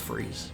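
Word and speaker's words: frieze: You pronounced freeze correctly? Okay. It's just freeze.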